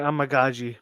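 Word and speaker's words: Amegadjie: Kieran Amagaji, BT. There you go. Stu, got the pronunciation.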